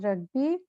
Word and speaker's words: rugby: ग को थोड़ा सा साइलेंट रखना. रग्बी.